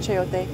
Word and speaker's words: chayote: Chayote? I don't know how to say it. Chayote. Yeah, thank you. I just omit the ch part.